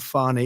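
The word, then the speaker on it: Fani: treated you very unfairly she goes by the name of fonnie even though it's F A ni I she wants to pronounce fonnie she's little little French little French accent and her lover and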